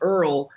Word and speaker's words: URL: But we named him Earl, but it's spelled URL.